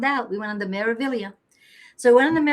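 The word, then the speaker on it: Meraviglia: That it has a G in it, but it's not pronounced Meavelia. We found out we went on the Meavilia.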